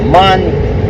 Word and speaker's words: MAN: Many people like Volvo trucks. Pour Areno. What is it? Man, German. They say man, but I say man because that's how you pronounce it in German.